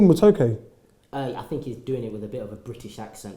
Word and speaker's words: matoke: and it's like, your matoke, is it called matoke? I think he's doing it with a bit of a British accent. How do you pronounce it? Matoke. Matoke. Yes, something like Matoke.